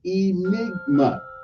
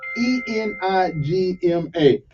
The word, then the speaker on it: enigma: attention to the word enigma e-n-i-g-m-a okay that's how you pronounce the word okay e-m-i -e-n-i -g-m-a that's when the a naughty not Enigma but Enigma okay it means someone or